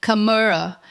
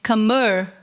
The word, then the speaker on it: camera: An Indian speaker might say camera, putting equal stress on all three syllables. A native speaker will say camera.